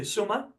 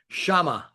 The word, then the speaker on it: Chama: Um, so jumping right into the album, um, I wanted to talk about so the title itself and if I'm pronouncing it correctly, Shuma. Shamba.